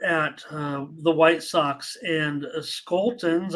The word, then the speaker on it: Scholtens: the White Sox and Skoltens. I know a little bit about Scholtens, I should say, I think is how it's pronounced.